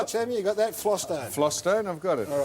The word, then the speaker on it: Vlastuin: Yeah, Vlaston. Flostone. That's how. That is how his name is pronounced.